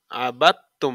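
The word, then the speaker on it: عَبَدْتُمْ: তু লাগবে সাথে তুম আবাত তুম এই দালটা বাদ দালটা উচ্চারণ হবে না এখানে এ ধরনের শব্দের মাঝে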